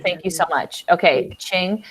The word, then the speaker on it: Qing: The Q is pronounced CH. Thank you so much. Okay, Qing.